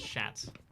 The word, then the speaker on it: chat: accent uh so cat chat and french is pronounced as shat so the shats on